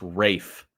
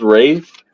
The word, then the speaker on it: Ralph: his names and it's Rafe Wikipedia is not gospel I didn't say Wikipedia oh I me YouTube sorry I'm on Wikipedia so it's spelled Ralph it's pronounced Rafe Rafe well my mind's